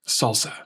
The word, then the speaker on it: SLSA: SLSA here isn't about tortilla chips. It's the acronym for supply chain levels for software artifacts, pronounced "salsa".